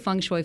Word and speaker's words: feng shui: So feng shui. Like bok choy.